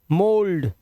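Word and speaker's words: mould: जब किसी शब्द में 'ou' के बाद 'l' आता है, तो 'ou' का उच्चारण 'o' होना चाहिए। जैसे कंधा, सांचा, पत्थर, है ना? मोल्ट, मोल्ड, सोल—हमें इन्हें कैसे समझना चाहिए ?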